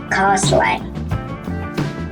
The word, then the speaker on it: castling: When T is between S and LE or LI or LY in the same syllable, it is usually silent, as in Bristly, Bristly,